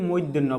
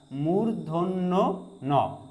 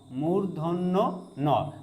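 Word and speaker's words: মূর্ধন্য ণ: আমরা সাধারণত এই বর্ণটিকে বলি মধ্যন্য বলি। যেটা সম্পূর্ণ ভুল। এটাকে বলতে হবে মূধন্য ন। দেখেন মূর্ধন্য বলার পরে কিন্তু আবারো ন সাউন্ডটা করতেই হবে।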